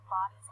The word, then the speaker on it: Bodie: The original name, Body's Island, is today pronounced Body.